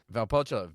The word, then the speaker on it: Valpolicella: You added an extra L at the beginning.